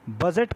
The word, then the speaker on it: bougette: तो पता होगा कि आज जो हम ये बजट लिखते हैं, ये फ्रांसीसी शब्द जो है उसका नाम था बूजे। बूजे, हालांकि उसे स्पेलिंग जो लिखते हैं इंग्लिश में वो होता है BOUGETTE।